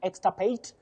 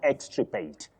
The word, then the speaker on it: extirpate: It's extirpate, not extirpate. Extirpate. I, then R, not R, then I.